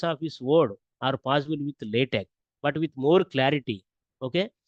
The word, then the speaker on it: LaTeX: distinct features between this latch as well as the MS word although it is written as LX we have to pronounce it as a latch latch lat te okay so latch and